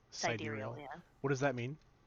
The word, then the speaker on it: sidereal: i don't know i kind of liked like sidereal saheeda ooh how do you say that how do you spell that uh s i d e r e